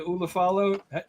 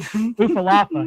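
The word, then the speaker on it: Ula Fala: How did LA Knight say that? The Ulafala? He mispronounced it. He mispronounced it. Pretty funny, yeah. And Roman was laughing. Ufalafa. He called Ufalafa.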